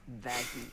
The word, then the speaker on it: Vaggie: after the best thing ever vag actually it's pronounced vagy no okay you hold on here we're we're